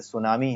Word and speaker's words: tsunami: जैसे सुनामी है, TSUNAMI, spelling ये है, लेकिन उसमें आप इसको सुनामी नहीं बोलते, आप ये नहीं लिखते आधा त फिर सुनामी, ऐसे नहीं लिखते, ये आधा त गायब रहेगा, केवल सुनामी लिखते हैं, तो त साइलेंट हो जाता है।